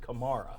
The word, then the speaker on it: Kamara: He pronounces it Kamara.